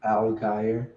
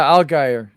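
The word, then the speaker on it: Allgeier: this is nice man you call him alan yeah algae that's how you say it algier i don't know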